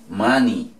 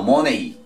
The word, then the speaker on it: money: vamos a decir dinero como se dice many many no money es man y los mismos